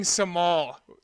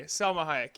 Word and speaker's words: Salma Hayek: a very famous actress Salma Hayek Jesus you sang samal totally threw me Salma Hayek yeah that's a ridiculous